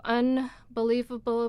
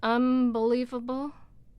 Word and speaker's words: unbelievable: So unbelievable becomes unbelievable, right? Because the B is bilabial and the N is not.